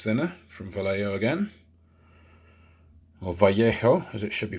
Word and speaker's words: Vallejo: just regular airbrush thinner from vallejo again or vallejo as it should be pronounced so just moisten the lens cloth so